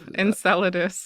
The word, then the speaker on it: Enceladus: Uh, can can you tell me a little more on uh how do you pronounce it? Uh, Salas Enceladus. Enceladus.